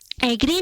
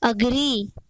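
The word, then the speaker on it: agree: एग्री नहीं होता है, इसका सही प्रोनाउंसिएशन क्या होता है? अग्री, अग्री, अग्री।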